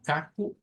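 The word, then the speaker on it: caco: el patrón en donde al final de una palabra, en su última sílaba, aparece una letra O a la par de una consonante y se hace como bu, como U. Entonces decimos kaku y gagu.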